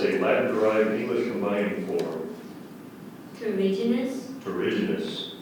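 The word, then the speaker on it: terrigenous: Terriginous. Terriginous. Are there any alternate pronunciations? Terriginous. Terriginous. The main pronunciation is terriginous. The alternate is terriginous.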